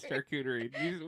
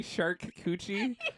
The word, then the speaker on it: charcuterie: Pick some up for your next charcuterie plate. Charcuterie. I don't know how to say that word. Charcuterie. What did you say? Charcuterie. Did you say shark coochie?